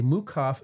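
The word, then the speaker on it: Meukow: And the specific suggested uh pairing is a it's it's spelled mukau, but it's pronounced mukov. A Mukaf VS Kgnac, which is robust and fruity with delicate woody nuances.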